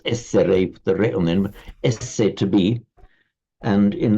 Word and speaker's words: est: the re on the end, esse, to be. And in Latin, it is est, which is directly cognate with the Sanskrit asti. And in French, it's written the same, but it's just pronounced e.